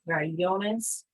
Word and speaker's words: crayones: So in Spanish, most of the time our emphasis is the second to last syllable, like crayones. Here, like with crayon, the emphasis is on the last syllable.